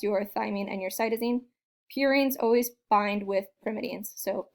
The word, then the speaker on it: purines: adenine and guanine are purines. And the way you remember it is that purines sounds like the word pure, like angels.